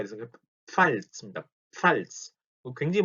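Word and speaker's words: Pfalz: 자, 요게 발음이 상당히 어려운데 PF가 붙어 있으니까 P하고 F가 같이 가 있어서 팔츠입니다. 팔츠.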